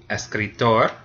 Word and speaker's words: escritor: It ends in an R, so it's the last syllable. Escritor.